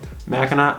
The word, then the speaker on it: Mackinac: went to mackinac city which by the way mackinac island is spelled in mackinac but mackinac city is spelled with the gnaw at the end naw what the people making mackinac city were probably like wait wait how do you say that but it's spelled right um okay well i think we'll just spell it like it sounds then you know mackinac